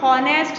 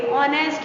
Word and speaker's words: honest: जो HONEST है इसको हम हॉनेस्ट नहीं पढ़ेंगे, ऑनेस्ट बोलेंगे, ठीक है, H साइलेंट।